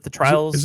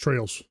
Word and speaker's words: Trails: Do you know anything about the Trials games? Is it Trials or Trails? It's Trails. Oh, this one's Trails. I said it wrong.